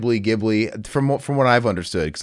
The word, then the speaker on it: Ghibli: Not a conventional Studio Ghibli movie in the sense of just sort of the history. What? Did you know you are a noob and it's actually pronounced Ghibli?